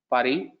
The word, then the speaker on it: Paris: When you say Paris, the pronunciation is Paris. You don't pronounce the extra S.